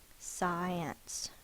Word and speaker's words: science: is short e an science you can scratch off the I mean draw a line through the C so you remember the C is silent the next word is